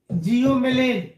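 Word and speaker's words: Psilomelane: का नाम है पायरोलूसाइट और दूसरे का नाम है जियोमेलेन। पी साइलेंट होता है।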